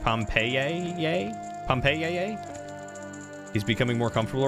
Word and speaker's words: Pompeii: Fun fact about Latin, the letters I are used as a single letter and pronounced AA. So Pompeii would have been pronounced Pompeii.